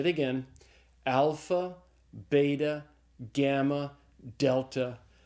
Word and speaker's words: delta: And so delta is pronounced like the d in the English word dog.